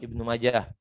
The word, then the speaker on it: Ibnu Majah: Jadi bacanya tetap Ibnu Majah. Nulisnya boleh dengan hak sukun, boleh juga dengan tak, tetapi bacanya tetap dengan hak.